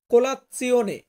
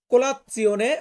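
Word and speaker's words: colazione: সকালের নাস্তা যেটা এটাকে আমরা ইতালিয়ান ভাষাতে বলব কোলাপসিয়নে কোলাতসিওনে মানে হচ্ছে ব্রেকফাস্ট বা সকালের নাস্তা দেন এখানে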